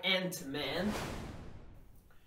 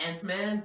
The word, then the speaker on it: Ant-Man: the ant-man little guy ant-man and pronunciation here I want to tell you the hero that in American English actually this work and has the same sound of the word and and and in American